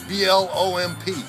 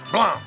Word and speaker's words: Blomp: Spell it. B-L-O-M-P. Just like it sounds. Like James. Plum.